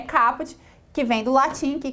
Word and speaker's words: caput: A forma correta da pronúncia é caput, que vem do latim, que quer dizer a cabeça.